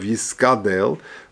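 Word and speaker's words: יתגדל: V'yadik ka gimel v'yiskadel, and there's a dogesh in the gimel of yiskadel.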